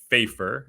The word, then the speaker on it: Fejfar: to speak with sarah fafer it rhymes with paper myself having a last